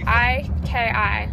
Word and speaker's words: iki: Spell it for us. I-K-I.